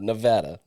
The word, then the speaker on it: Nevada: said it right so that's all that matter Nevada yeah Nevada uh last thing for me you